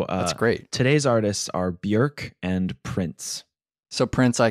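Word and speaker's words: Björk: from this point on when you and I refer to her as bork because it's more comfortable we're just uh we're just making a mistake we're preventing emails from flooding in from Iceland so uh great today's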